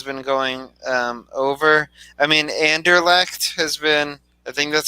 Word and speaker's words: Anderlecht: I mean, Anderlecht has been. I think that's how you say it, right? Anderlecht.